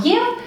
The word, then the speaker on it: ев: Se escribe como ye y v, pero lo pronunciamos como yev más terminación dependiendo del género de nuestro adjetivo.